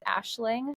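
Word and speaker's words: Aisling: went to Ireland and a name over there that's really popular is Ashling spelled a i s l i n g and so my mom really loved the way that that spelling made the ash sound even though it had the AIS s and she was like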